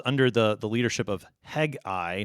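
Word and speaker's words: Hegai: the the leadership of hegi not Hagi the prophet but hegi the the unic the there's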